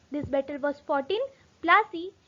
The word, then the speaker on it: Plassey: The location was, this battle was fought in Plassey, which is pronounced as Palashi, which is in Bengal.